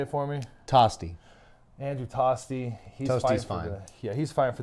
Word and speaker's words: Tosti: Andrew Tosti.